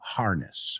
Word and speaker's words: harness: Se pronuncia la H y el estrés está en otro sitio. Harness, harness.